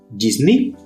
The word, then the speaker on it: Disney: já de longa data inclusive dentro da Disney Disney é a pronúncia certa desculpa ã e ele na verdade